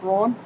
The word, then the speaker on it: Braun: like a document it was here, it's Braun? It's pronounced Brown. but Brown, that's how I always B-R-A-U-N.